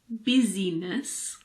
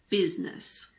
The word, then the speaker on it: business: basically always pronounce i the main exception is in the word business it's not business it's business and now the letter K